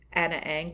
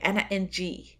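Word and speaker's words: Ana Ng: this song, which is Anna Ang by They Might Be Giants. She never got it. So eventually I changed how I pronounce it. And, and I had to say Anna Ng.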